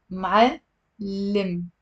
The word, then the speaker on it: معلم: But we have the word معلم. معلم. So it's also two syllables.